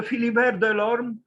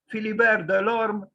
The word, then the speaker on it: Philibert de l'Orme: Okay, so Philibert Delorme, pronounced, if you can read that cryptical way of, expressing how the pronunciation should take place, but it's simple. Philibert Delorme, born in June 1514 and died on the